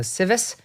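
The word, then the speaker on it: Tsives: The last name is spelled T-S-I-V-E-S. So Civis, Eli Civis.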